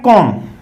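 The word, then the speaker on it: comb: Next आता है कॉम्ब। देखिए कॉम्ब हम बोलते हैं सामान्यतः, लेकिन बी साइलेंट रहता है, कॉम्ब होता है।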